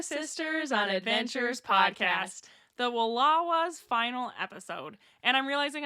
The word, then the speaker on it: Wallowa: It said Wallowa like Kapawa. Yep. So unless we pronounce Kapawa incorrectly, I think that's how it's pronounced.